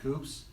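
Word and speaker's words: coupé: now and they're also calling them Coupes and coups I hate that Coupe you hate the way the British say it four-door Coupe four-door Coupe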